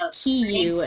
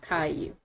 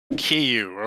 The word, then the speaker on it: Kiyu: Their name is Kiyu and not Caillou. Kiyu.